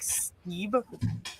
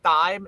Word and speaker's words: Steib: say like, hey, like it's pronounced Steib, not Steib.